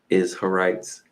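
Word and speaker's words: Izharites: an in in there the clan of the isites kind of sounds like Israelites but it's a little different isites if I didn't say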